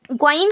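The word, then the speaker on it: غ: उसके बाद गन गन गन ग्वन का क्या मखरज है? हलक के ऊपर वाले सूखे हिस्से से ग्वन अदा होता है। इट is pronounced from the टॉप dry portion of your throat. तो हलक के किस पार्ट से अदा होता है? हलक के ऊपर वाले सूखे हिस्से से गइन अदा होता है।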